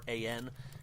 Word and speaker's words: Halloran: For the record, if anyone wants a unique version of Last Christmas, there is one by, I think the name is pronounced Halloran and Kate. It's Halloran.